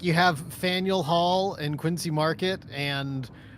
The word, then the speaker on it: Faneuil: actually said it yeah it's Faneuil Hall fanuel like it's n-e-i-u it's like mule like Nathaniel yeah Neil mule did